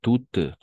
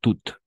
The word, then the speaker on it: toutes: Et au féminin, toutes, comme bien prononcer Déborah, toutes.